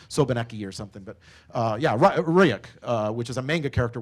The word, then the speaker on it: Ryuk: It is Ryuk. Yeah. Because the S one is the other name for REvil. That's like a Russian-sounding name, so Sobaneki or something. But yeah, Ryuk, which is a manga character, which means Death Note.